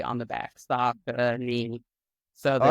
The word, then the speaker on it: Saucony: And the vendor themselves, the rep, there was a shirt and it had it spelled phonetically on the back. Saucony.